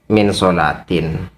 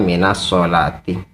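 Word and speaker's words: مِنَ الصَّلَاةِ: Min sholati itu sebenarnya kalau kalimat as-sholah tidak terhubung dengan al atau tidak diawali dengan al, maka dibacanya min sholatin. Tetapi kalau ternyata lafaz as-sholah diawali dengan al, maka bacaannya minas sholati. Jadi min sholatin ala Muhammadin atau minas sholati ala Muhammadin.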